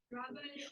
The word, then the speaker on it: grabe: Now, there's usually like people or Filipinos usually have a variety in the way they say grabe. Usually they prolong it. Grabe. Okay, so that's how they usually pronounce the word.